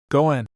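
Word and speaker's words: 五円: word for 5 yen goen sounds like the word for good fortune or destiny.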